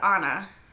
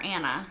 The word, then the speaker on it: Ana: Also, I believe I'm saying her name right, because she said Ana, right? Everyone else keeps calling her Anna, which is not the same.